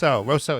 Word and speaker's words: Rousseau: Or Rousseau is how you say it.